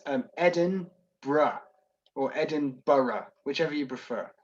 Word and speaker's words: Edinburgh: pronounce edinburgh it's um edin bruh or edinburgh whichever you prefer edinburgh or edinburgh is not the one thing it's not is edinboro edinboro it's not edinboro it's edinburgh so so do you